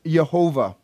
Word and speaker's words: Yahweh: this at the funeral yahweh whenever you see the word capital l-o-r-d all caps that's the personal name of god yahweh also sometimes pronounced jehovah all right but yahweh